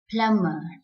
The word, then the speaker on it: plumber: need to remember is whenever you find the letter b at the end of a word just after m please keep in mind that b is silent so the word like